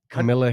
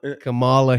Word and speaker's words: Kamala: Kamala Harris. Kamala. Kamala Harris. Listen, man. I try to pronounce it. Everybody they keep saying this wrong. It's Kamala. Oh no, it's Kamala.